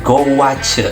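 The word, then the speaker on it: gouache: kedua yang kedua ada cat guas atau pelafalannya goach jadi apa itu cat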